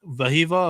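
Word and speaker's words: Wehiwa: But Vahiva Aloy, I am told that it's pronounced with a V. His name starts with a W, but he comes in from Sacramento State.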